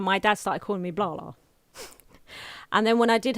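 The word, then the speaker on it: Blahla: i was a toddler he would call me blah blah but he would spell it b-l-a-h-l-a right because the idea is that i talk a lot clearly um so it's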